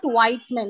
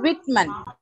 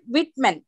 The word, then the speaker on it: Whitman: role of the reader it is not white men it is Whitman okay his full name is Walt Whitman not white men okay it's walls Walt Whitman with men okay pronunciation should be Whitman okay thank you thank